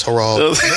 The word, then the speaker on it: Harold: No, it's Harold. Been saying it wrong the whole time. I hate when niggas say Howard.